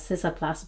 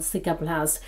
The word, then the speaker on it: Cicaplast: I used to pronounce this as Sisaplast, but I recently found out it is called Cicaplast B5.